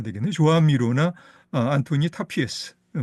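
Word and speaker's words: Joan Miró: 아 그럼 조한미로 이렇게 발음해야 되겠네. 조한미로나 안토니 타피에스.음 음.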